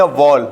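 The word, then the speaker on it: wall: ये वॉल बोलते हैं दीवार को, ये वॉल बोलते हैं गेंद को, क्लियर हो रहा है ना। क्या बोलेंगे, वॉल, ना कि वाल, ठीक है ना।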